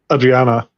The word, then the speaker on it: Adriana: Sorry, how do you say the character name? Adriana? Adriana, yeah.